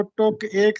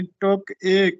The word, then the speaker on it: ٹک ایک: تھوڑی دیر کے لیے۔ یہ درست تلفظ اصل میں جو ترکیب تھی وہ ٹک ایک تھی، یعنی ٹک ایک یہ لفظ تھا تھوڑی دیر کے لیے، ٹک ایک۔ بعد میں یہ اردو